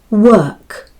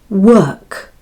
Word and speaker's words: work: So say after me, work, work. Open the mouth after saying the W sound and end with the K sound.